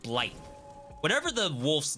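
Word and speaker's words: Blaidd: like you get to play as blade ble not blade as in Marvel Blade but or they pronounce it blight whatever the wolf's name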